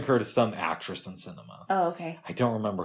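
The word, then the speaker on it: Sinema: Every time I think of the last name Cinema, I think of movies, but I don't think it rhymes with enema.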